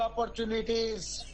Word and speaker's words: opportunities: 7वां, 7th, provide ample, AMPLE, provide ample opportunities, यहाँ TU का उच्चारण ऑपर चू किया जाएगा. चू, TU का चू, ऑपर, TU पढ़ेंगे चू, अन्य opportunities, अवसर, ऑपर चू, TU का टू नहीं चू, निटीज, opportunity, और practice